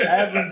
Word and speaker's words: Avalon: Like Italy's Italy, Avalon's Avalon. There's only two syllables.